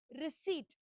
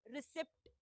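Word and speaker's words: receipt: सो, the first word that we have today is रिसीट। इट्स रिसीट। The spelling has अ P okay but the right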